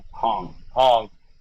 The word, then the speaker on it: Hong: How do you pronounce his last name? Hong.